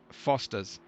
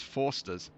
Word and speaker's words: Foster's: Yeah, I think that maybe Logan was reading Foster's as Forsters earlier on.